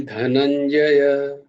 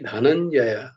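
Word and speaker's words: धनञ्जय: তো কিন্তু উচ্চারণটা কিঞ্চিত अस्ति, কিঞ্চিত अस्ति ধনঞ্জয়, ধনঞ্জয় নয় কিন্তু, ধনঞ্জয়। ধয়ের উচ্চারণটা ধ হবে না, ধ হবে, ধ, ধনঞ্জয়।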